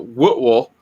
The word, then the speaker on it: Whitwell: on the other hand, we also have two other cities in Tennessee that are pronounced Woodville, which Woodville. Joe Dog just mentioned, and also Murrayville. Murrayville. They're not spelled that way at all. They're spelled Whitwell and Maryville.